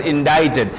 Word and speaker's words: indicted: it becomes sound then C this is an anomaly where C is there but it's not pronounced dead so if we call it just indicted you can say there